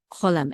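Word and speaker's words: חולם: Cholem. And Pharaoh was dreaming. Ufar o cholem. The accent is on lem, and here the accent is on o.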